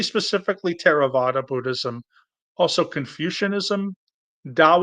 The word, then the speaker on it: Dao: Non theistic religions would be Buddhism, probably specifically Theravada Buddhism, also Confucianism, Dao or Taoism. They're both obviously the same, spelled with a D or a T, the Ethical Culture Society, Jainism, and the Unitarian Universalist Association.